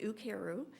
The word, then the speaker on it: Ukeru: right um and so the emphasis really is on care with a double o on either side of it so it is pronounced ukeru and it's a japanese